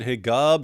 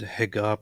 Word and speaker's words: Hegab: Muhammad niil hegab uh in Egypt they PR they they kind of pronounce the same letter that you use for a j sound with a with a g in traditional ways and name themselves and